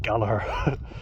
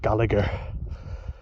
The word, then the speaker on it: Gallagher: And that's how it's pronounced, FYI, Gallagher, not Gallagher.